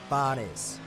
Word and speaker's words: Fares: Now, is your name pronounced Fares? Is that sound correct? It is. 10 points for me. Fares.